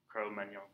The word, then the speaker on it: Cro-Magnon: Like filet mignon, Cro-Magnon, Cro-Magnon. So Cro-Magnon man, he is